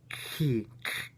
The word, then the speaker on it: chi: Upsilon is like this which can be approximated like rude, and chi, which could be approximated with a hard K.